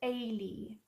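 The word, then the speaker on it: Ailie: my name is pronounced Ailey so the quickest way I can think of to explain it to people is to think of Haley but without the H and then you spell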